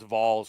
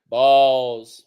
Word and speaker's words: Vols: You got to pronounce Vols correctly. Balls. There you go. That's it. It's like saying ball, but put a V on it. Vol. Oh. Even though you think it should be Vol, it's not.